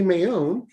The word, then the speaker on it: Maione: so before we do we actually have a very special guest with us his name is michael j mayon and he is the host of the amazing